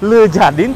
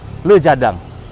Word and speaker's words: Le Jardin: Marriott namanya kalau tulisannya Tulisannya lu jadiin Tapi bacanya Harusnya lu jadang Kenapa demikian nanti kita